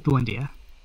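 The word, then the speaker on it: Emil Buendía: buendia uh if I I think it's buendia that's how you pronounce Emil buendia um you know obviously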